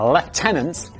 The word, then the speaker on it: lieutenant: the copper mine expedition led by a left tenants which is how I pronounce it when we're talking about British people because that's how we say it in Britain.